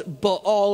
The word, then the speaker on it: Baal: And I learned how to say that correctly in college from Dr. Mike Fillingham. Thank you. And I never would have thought it's Baal is how you say it.